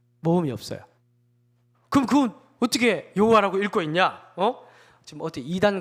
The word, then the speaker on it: 여호와: 그러니까 못 읽는데 어쨌든 성경에 기록되어 있으니까 어떤 식으로든 읽어야 되니까 아도나이 모음을 갖다 붙여서 여호와라고 읽는 거예요.